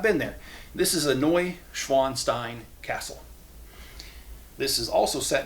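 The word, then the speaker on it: Neuschwanstein: This is a Noi Schwanstein Castle.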